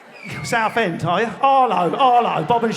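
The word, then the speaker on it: Harlow: South End Tire Arlo Arlo Bob and Sharon from Arlo anyone who pronounces the H gets knocked out pretty sharpish maybe it's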